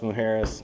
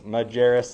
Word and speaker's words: Majerus: P2 graphic and then Alex mujeres Majerus mujeras keep wanting to pronounce his last name like his Latino it's not really at all Latino but uh Pune apparel